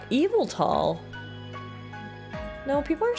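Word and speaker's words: Yveltal: pronouncing it right evelt according to the official Pokemon X and Y site it's Evel tall okay I guess I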